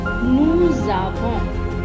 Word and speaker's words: nous avons: here with avoir, like nous avons. The S plus the A make the Z sound, because S followed by a vowel sound is always a Z sound.